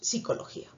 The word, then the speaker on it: psicología: en palabras como psicología esta p no se pronuncia porque le pronunciamos psicología y no tenemos un